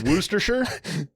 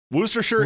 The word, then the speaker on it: Worcestershire: ] hot sauce maker you have a chance rooster sure what it's Worcestershire his Jay connect correct pronunciation I'm drunk and I